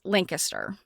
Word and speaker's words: Lancaster: With Jill and some other folks that are from Massachusetts, they pronounce the one in Pennsylvania wrong. If you, when you're talking about the Amish area of Pennsylvania in southeast area of the state, it's Lancaster.